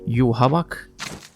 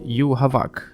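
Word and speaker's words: Yhwach: know how to say his name is it you walk or you watch or like in the anime version you havoc well after doing a little research so the correct pronunciation would be you havak anyway that's right bleach fans after waiting for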